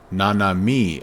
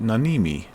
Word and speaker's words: Nanami: Let's turn on all of the Nanami. Oh, Nanami. I'm sorry. I keep saying it Nanimi.